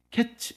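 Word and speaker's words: קץ: 그런데 히브리어로 보게 되면 카이츠 캐츠 이렇게 되는 거예. 하나님께서 아모스에게 네가 무엇을 보느냐 하니까 아모스가 하나님께 카이치를 봅니다.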